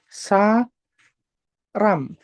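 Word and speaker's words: 사람: ya dibacanya sa ram rialnya di tengah dibaca r ya saram dua na mu namu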